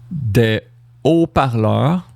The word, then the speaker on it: des haut-parleurs: And now you might say, why is it not a S sound? There's a H there, but the H is unpronounced. Haha, so it's going to be des haut-parleurs.